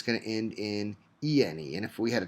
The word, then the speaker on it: yne: it's going to end in ene. And if we had a triple bond, it would end in yne. And those are pronounced ene and ine.